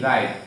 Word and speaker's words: write: পরে আর আছে, এজন্য ডাবলিউটা উচ্চারণ না হয়ে কি থাকবে, সাইলেন্ট থাকবে, এবং আমরা আর থেকে উচ্চারণ করব।